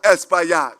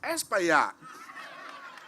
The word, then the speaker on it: Espaillat: And if you can pronounce esplanade, you can pronounce Espaillat.